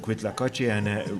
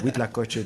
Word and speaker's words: huitlacoche: And I just type in Quitlacoche or Huitlacoche, depending on how you say it, and something comes up.